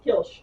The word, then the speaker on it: Kilsh: It's one of the cities she made, and it's It's hard to pronounce, but it's like it's Kilsh, which is just kill shit, but all the vowels taken out.